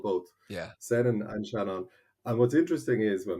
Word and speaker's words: Seanán: and I'm the only person with this name Shannon ok sh the English form sh sorry going